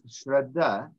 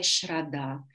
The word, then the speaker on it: shraddha: the very important qualities in yoga sadhana is shraddha, to have the faith that we are on the path and doing our best. Infatti una delle qualità più importanti per chi pratica lo yoga è shraddha.